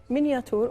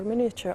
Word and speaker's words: miniature: uh Minature art okay Minature or miniature art is both pronunciations are correct and miniature art is